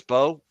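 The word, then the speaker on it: Mbow: There's the the M is silent. Oh, it's Marcus Bo. Marcus Bow.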